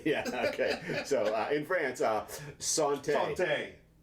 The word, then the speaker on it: santé: So in France, santé. Santé. Not sun tea. Santé.